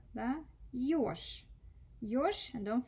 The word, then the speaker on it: Ёж: Ёж. Ёж. And don't forget to devoice. Yeah, so the like voiced consonants at the end. Да? Ёж. Ш, ш. You see ж, but you hear sh.